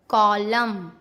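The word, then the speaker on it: column: एम एन एक साथ हो तो एन को चुप रहना पड़ता है। ओके। जैसे AUTUMN, autumn, कॉलम, dam, hymn.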